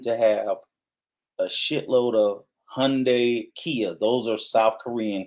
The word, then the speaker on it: Hyundai: saying it right Rico what's that you saying Hyundai that's how it's pronounced no it's not you need to say Hyundai you you talking about you you said you